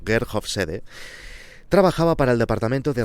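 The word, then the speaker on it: Hofstede: de los asuntos vuestro vamos a escribir como get off sede y vamos a pronunciar como kerkhof said trabajaba para el departamento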